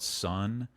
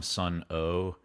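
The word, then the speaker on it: Sunn O))): They're called sun. Um, a lot of people call them sun o, but the way you spell it, it it's like an it's a vibration symbol.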